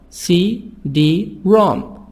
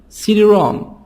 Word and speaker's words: CD-ROM: CD-ROM. CD-ROM. The stress on the last part.